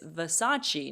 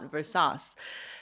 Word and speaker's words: Versace: Javon she not Givenchy it's Versace not inverse sauce so so they you